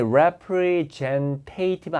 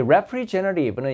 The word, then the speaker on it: representative: 자, 영업사원들 the sales 발음이 representative 아닙니다. representative입니다. 이 representative는 이제 대표란 뜻도 있잖아요.